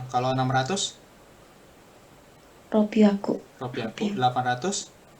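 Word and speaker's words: 六百: bacanya apa Yuvita? 300 sang biaku. Sanbiaku. Kalau 600 Ropiaku.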